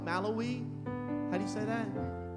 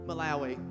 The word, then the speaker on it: Malawi: in Malawi how do you say that now Mallory Malawi okay I'm from Tennessee I can't say that